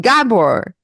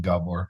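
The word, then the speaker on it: Gábor: Uh, we were pretty confident you were Hungarian, Gabor. Yeah, the way he put the accent on the O there is no doubt.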